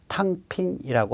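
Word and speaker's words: 躺平: 그걸 중국 용어로 탕핑이라고 한답니다. 저 탕이 당인데, 우리 발음은 당평인데, 저 당이 누울 땅자예요.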